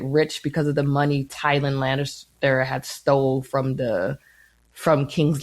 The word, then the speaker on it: Tywin: Tywin Lannister. Try it again, because that's not his name. Tywin.